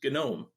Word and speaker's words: GNOME: the same as mate gnome is spelled the same as gnome like a garden gnome but it's gnome I don't know why